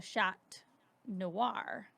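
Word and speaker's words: chat noir: and i said the shot noir which you don't pronounce the T in French but I didn't want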